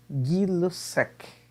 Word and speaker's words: Gay-Lussac: homenagem aos químicos franceses Jack Alexandre César Charlie e Louis Joseph guilos aqui é assim que a pronúncia desses nomes então ó Charles Ele estudou